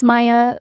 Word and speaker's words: Maya: It's Maya, like the month but spelled with a Y at the end.